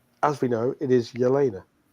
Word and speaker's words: Jelena: And the reason I make the point was because, as we know, it is Yelena. Yelena, yeah. And it's like you've mispronounced her first name, and you're telling me